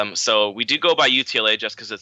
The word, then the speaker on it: UTLA: Yeah, so it is UTLA. You got it right. For a while, we were stuck between U of TLA and UTLA because obviously Texas, another